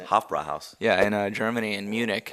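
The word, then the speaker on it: Hofbräuhaus: Hofbrauhaus.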